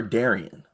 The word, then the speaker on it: Darian: Is it Darren or Darian? It's spelled Darian. But I it's Darren. always hear people say Darren.